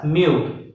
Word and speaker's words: mu: the symbol is mu it looks like a U and it's pronounced as mu m e w mu